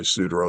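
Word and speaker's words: Suduiraut: And by the way, Sudereau is spelled Sudiraaut.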